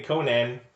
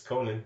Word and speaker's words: Conan: thing is true also they say Conan but it's Conan like Conan you want to say